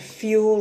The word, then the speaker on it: fuel: Make sure you pronounce the word fuel correctly. It's quite commonly mispronounced. Fuel, 2 syllables, fuel.